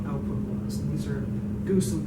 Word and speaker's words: GOOS: And these are Goose and Gorch, and apparently those are the official ways of pronouncing those, FYI.